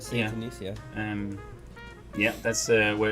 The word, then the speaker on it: Saint Denis: Saint Denis, yeah.